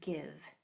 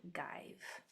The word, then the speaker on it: give: It's there to keep the V from being at the end. V's are not allowed to be at the end. You must have a silent E at the end. That's why this is give and not give.